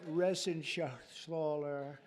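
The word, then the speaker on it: Reschenthaler: And Guy Resen Shaaler, you know that Resen Sler, he's uh that's actually the way you pronounce it.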